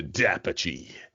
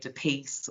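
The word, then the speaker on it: D'Apice: But I've heard people say DePiece or DePie, just not being aware of how to pronounce it. So it's an Australianized pronunciation of an Italian surname.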